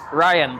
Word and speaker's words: Rayaan: Ryan.